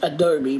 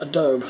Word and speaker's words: Adobe: No, I was told it was actually pronounced Adobe, but for some reason I always call it Adobe.